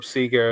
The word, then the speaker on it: Sega: We called up Sega of Japan, and they confirmed it's pronounced Sega, and everyone else is wrong, and Sean's right.